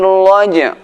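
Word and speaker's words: رَجْعِ: Ar-raja', suara jim dibaca dengan kuat qalqalahnya. Was-samaa'i dhatir raja', raja'.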